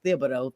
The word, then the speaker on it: Thibodeau: I always want to not pronounce the H. It is Thibodeau, Thibs. So sounds like it's like a lisp or something.